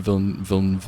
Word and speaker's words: Villeneuve: No, I'm gonna say Denis Villeneuve.